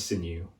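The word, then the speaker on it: Xin: My name is Sinew, but you can call me Sin, spelt with an X, not an S.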